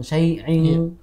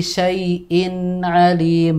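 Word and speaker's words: شيء عليم: Tadi Bapak Abdul Muiz membacanya seperti dengung syai'in. Ada dengungnya. Harusnya tidak ya. Di situ dibaca dengan idhar. Jadi bikulli syai'in alim bukan syai'in.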